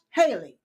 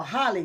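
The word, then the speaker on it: Hawley: Uh, Senator Josh Haley. Yes. Or Holly. Well, however you pronounce his name. Okay. I've heard Holly, but it's spelled Haley.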